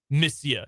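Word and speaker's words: monsieur: o n s i e r but it's pronounced missia did you ever take a foreign language TR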